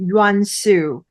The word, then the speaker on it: Yuan-Su: That is a beautiful strategy, Tequila, and my last name pronounced Yansu.